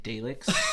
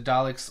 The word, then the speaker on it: Dalek: My kid used to get pissed off at me because I used to say Daleks. You simpleton. Yeah, because I'm just like, it's an A. It's Daleks.